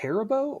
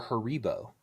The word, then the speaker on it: Haribo: So, is it pronounced herbo or haribo? Haribo.